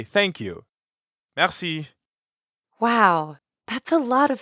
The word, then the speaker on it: merci: means thank you merci merci merci has a french r in the middle so we have to use our throat a bit mercy merci you give it a shot